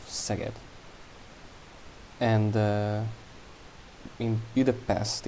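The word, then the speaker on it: Szeged: uh first stop uh first of all it's not uh zagen it's more of seget and in be the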